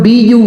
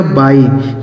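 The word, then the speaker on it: buy: अगला शब्द है दोस्तों बी यू वाई। इसे पढ़ा जाएगा बाय। बी यू वाई इसे पढ़ेंगे दोस्तों बाय।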